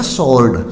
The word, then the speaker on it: sword: SWORD यानी S के बाद यहाँ W है तो इसका हो जाएगा स्वॉर्ड।